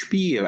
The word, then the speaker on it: Spiel: And you know, for me, I know the term which is pronounced Spiel, and this is from German and means game.